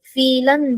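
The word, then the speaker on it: Vielen: या फीलन डंक मैम फीलन डंक फीलन फीलन फ वाला फीलन यस फ वाला फीलन नॉट नॉट व्हीलन फीलन डंक फीलन डंक या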